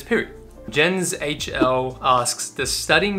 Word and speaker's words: Pirie: Well, I just pronounced it then, it's Pirie. A lot of people say Pirie, a lot of people say, but it's Pirie.